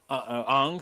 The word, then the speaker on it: Aang: the proper pronunciation. Who Yeah, cares what it's they Aang. It's Aang, my buddy.